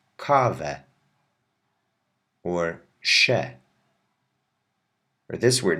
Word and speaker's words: kawę: Also be aware that the E with the tail, which I said says ow, whenever it's at the end of a word, you pronounce it like a normal E, as if it doesn't even have a tail at all. Like this. Kawę.